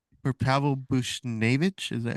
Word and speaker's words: Buchnevich: Fridge said for Pavel Bushnevich, is that how you say his name is? Yeah. Buchnevich.